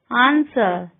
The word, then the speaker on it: answer: W is not pronounced in the following words: who, whose, whom, while, whoever, answer, sword, to.